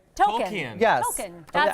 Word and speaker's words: Tolkien: He did, Now, it's I just Tolkien. learned that's how you pronounce it.